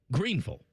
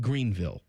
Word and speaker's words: Greenville: Nicole was was yelling at us that we were pronouncing it wrong. Greenville, not Greenville.